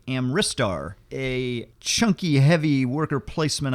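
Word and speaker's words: Amritsar: bit hard to pronounce I keep wanting to call it Ameristar but it's actually amristar a chunky heavy worker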